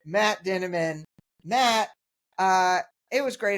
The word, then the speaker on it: Dinniman: of Dungeon Crawler Carl rhymes with cinnamon which is how I remember it Matt denan Matt uh it was